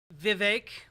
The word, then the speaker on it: Vivek: guys want to do Vivek rhymes with cake ramaswamy versus Medi Hassan